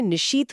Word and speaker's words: निशीथ: आप देखें निशीथ बोलते समय श और थ की जो फुसफुसाहट वाली साउंड आती है वो सीधे तौर पर आधी रात की खामोशी को प्रेजेंट करती है।